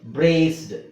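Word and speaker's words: braced: robbed okay ಹಾಗೆ ಇದು ನೋಡಿ ಬ್ರೇಸ್ಡ್ ಇದು ಈ ಸೈಲೆಂಟ್ ಆಗಿದೆ ಇಲ್ಲೂ ಅಷ್ಟೇಸ ಸಿಸಿ ಅಕ್ಷರ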